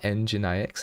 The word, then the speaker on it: nginx: also had to install the um it's called engine ix nginx i know exactly this how to say